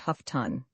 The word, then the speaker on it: Houghton: "It is always pronounced Huffton," said Miss Pinniger.